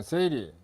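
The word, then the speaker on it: 整理: 일본에서 생긴 활동인데 발음이 일본말로 정리는 세이리, 세이돈, 세이소, 세이게츠, 시츠케 이렇게 읽습니다.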